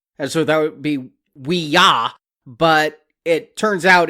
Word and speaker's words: Ouija: how you do it it's two syllables and the first one is we and then you can go J or you can go g and the reason why